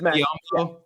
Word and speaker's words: Bismack Biyombo: Is that how you say his name? Beyond, yeah, Bismack Bismack. Biyombo? Yeah, Bismack Biyombo.